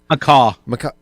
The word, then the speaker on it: macaque: The I'm going to say this macaque monkey. Macaw. Oh, it's quiet. The QUE is silent.